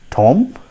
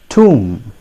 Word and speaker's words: tomb: it is pronounced as tomb tomb b is silent here remember there are certain